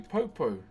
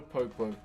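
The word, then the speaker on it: poupou: So this is a popo. P O U. P O U is how you spell it.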